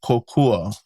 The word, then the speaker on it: kokua: Next we have kokua.